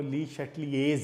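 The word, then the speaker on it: Le Chatelier: तो आप अगर यूट्यूब पे भी जाके ली शैटलियर लिखें ना, तो आप उसकी प्रोनाउंसिएशन देखें, तो वो जर्मन में उसको पढ़ने का जो तरीका है वो ली शैटलियर्स है।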